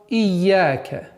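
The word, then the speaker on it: إِيَّاكَ: правильного произношения коранического текста, что каждая удвоенная буква состоит из двух букв. Например, в данной ситуации «я» – это первая буква «я» с сукуном, вторая буква «я» с огласовкой фатха.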